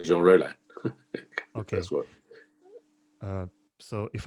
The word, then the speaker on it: Jean Rollin: How do you pronounce the name of Jean Rollin in English? Well, I just say Jean Rollin.